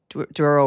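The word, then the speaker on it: Douro: So you can have port wine and a cocktail overlooking the Duro River. Did I pronounce that correctly?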